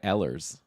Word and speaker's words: Ehlers: You said Nikolai Ehlers, like Lars Eller.